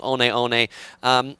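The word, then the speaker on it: Hoka One One: one one uh but it's in uh like a pacific islander language so it's pronounced honeone it's the same company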